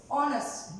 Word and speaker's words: honest: h and o so at the beginning of any word if h and o comes together it is silent then we will use